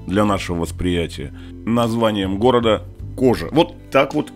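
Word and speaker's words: Coja: городе под смешным для нашего восприятия название города кожа вот так вот и произносится город Старый построен ещё во времена древнеримской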